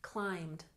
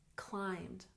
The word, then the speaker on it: climbed: check our pronunciation climbed just one syllable even though it has Ed on the end climbed climbed and Mountain has emphasis